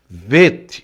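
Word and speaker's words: ב: Então, quando tem essa pontuação é bait, quando não possui nada aqui, ó, quando não possui nada, né, quando tá em branco, é veit. Aí você lê como V de viola, não é? V de viola. Vet. Então, bet vet, tá?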